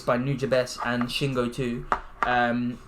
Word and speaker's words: Nujabes: it it's yeah so how'd you say his name nujabes need your best okay that's what it was yeah so um yeah